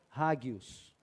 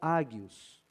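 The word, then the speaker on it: ἅγιος: essa palavra que santos a palavra grega usada por paulo o e traduzida para nós como santos é a palavra rádios ou aggios mas tem ouvido as duas pronúncias e vou preferir a rádios o que significa separado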